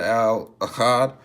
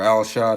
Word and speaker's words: Al Achad: whatever so again man my name is uh Al Ahad or al-shad however you want to pronounce it uh formerly Alex will